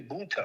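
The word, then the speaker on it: Mounta: Oh, Monte Jackson. Munta. It's actually Munta. Munta. M-O-U-N-T-A.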